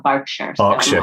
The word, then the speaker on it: Berkshire: sounds fine to me i've only just learned that berkshire is called the bark shirt yes and she